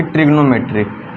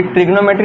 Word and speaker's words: trigonometry: लिखा है ना कि ट्रिग्नोमेट्री। कई लोग गलती करते हैं, है ना। ये ट्रिग्नोमेट्री नहीं है, ये ट्रिगोनोमेट्री है।